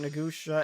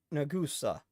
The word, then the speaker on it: Nagusa: Still pronouncing Nagusha as Nagus. Nagusa. Nagusa. I I uh sensei, who are they?